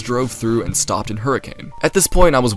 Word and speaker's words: Hurricane: Also, I've been saying it wrong this whole time. It's pronounced Hurricane.